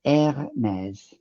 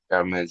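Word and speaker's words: Hermès: Hermes, Hermes.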